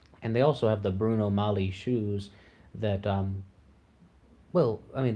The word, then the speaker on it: Bruno Magli: Lionel nation gives a tutorial on how to pronounce Bruno Molly or something like that I am totally guilty of saying Bruno Magli in my early uploads I'm not exactly up